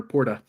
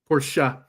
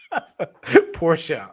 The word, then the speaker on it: Porsche: She said that you were calling her Porta. How am I supposed to say her name? Porsche. Almost like the car. Fuck. Oh, fuck off. Porsche.